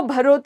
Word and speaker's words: भरहुत: तो भरहुत या भरत, अलग अलग तरीके से इसका प्रोनाउंसिएशन करते हैं।